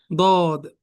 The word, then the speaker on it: ض: И вот сегодняшний урок уже будем проходить буква сод, дод, сод, дод. И будем узнать, как они произносятся, как они читаются и как они пишутся, иншаллах.